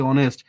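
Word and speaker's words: honest: প্রসেসটাকে বলা হচ্ছে illusion অনেস্ট হনেস্ট কে আমরা হনেস্ট না বলে বলতেছি অনেস্ট তাহলে এই যে বাদ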